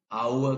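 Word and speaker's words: hour: अब एच की साउंड होगी, ह, हाउस, हाफ, आवर। अब यहाँ ह की साउंड नहीं है, आवर की साउंड आएगी, एच साइलेंट है यहाँ पे।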